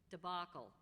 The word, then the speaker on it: debacle: Debacle, a disastrous collapse.